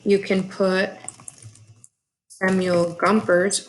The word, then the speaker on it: Gompers: can put a mule Gompers rhymes with jumpers that's all those working